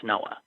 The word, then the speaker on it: NOAA: Oh oceanic I don't even know how to pronounce National Oceanic and Atmospheric Administration that's Noah anyway NOAA in cahoots with the National Weather